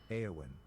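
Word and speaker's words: Éowyn: The answer is Aowin. They remember the accent on the E.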